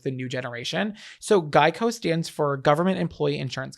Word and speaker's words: GEICO: was like no I'm a gecko but it's pronounced Geico so that was the whole reason was he